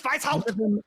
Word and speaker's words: Weishaupt: It's Weishaupt. Weishaupt. Weishaupt. You know what I'm saying. Gotta say it like a German twink.